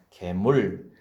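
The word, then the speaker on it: גמול: 이것은 일반적인 은혜를 지칭하는 게 아니라 무지하고 악하고 어리석어서 범죄했을 때 오히려 그들에게 넘친 은혜를 지칭할 때 계물, 은택이라고 이렇게 하는 것입니다.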